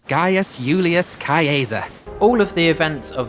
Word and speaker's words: Gaius Julius Caesar: Actually, all of the Latin is pronounced in the classical Latin way, so instead of Gaius Julius Caesar, it's Gaius Julius Caesar.